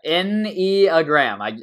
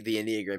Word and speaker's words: Enneagram: She told me how to pronounce it. Give me a second. Yeah, Enneagram. I literally just pulled this up as you said it. So there you go. Yeah, the Enneagram.